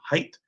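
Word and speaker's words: Haidt: My name is pronounced height.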